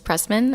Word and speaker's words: Pressman: sign is okay so my name is Pressman a PR es s ma n like you're pressing a man for information I was born in